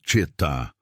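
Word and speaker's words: Xetá: Os Chetá, pronuncia-se Chetá, eram o último grupo indígena nômade do sul do Brasil.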